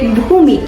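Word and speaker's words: भूमि: How do you say land? Poom. Home. We say bhumi.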